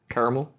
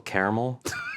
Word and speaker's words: caramel: Caramel? They just drop that second A. A little caramel?